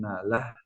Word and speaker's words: nala: Escuchen, presten atención acá cuando dicen nala. Nala. Es como una A, pero muy suave, una línea muy finita en nala.